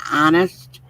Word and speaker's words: honest: always instead of saying honest, he would always say honest. And we'd say, "Bill, it's not it's not honest." He goes, I said, "The H is silent."